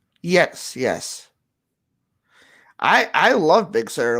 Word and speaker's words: Big Sur: they're doing with the new os is it big sir i think that's how you pronounce it yes yes i i love big sur like there's a lot of people um there